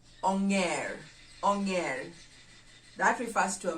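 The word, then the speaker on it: onger: do we refer to monkey in the luau anger angel angel again many people like using this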